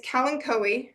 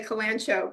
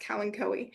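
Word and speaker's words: Kalanchoe: is um you might recognize this plant it's Callen Co which is how it's pronounced I know a lot of people say kanano but it's actually pronounced Callen KO um not that I would turn you away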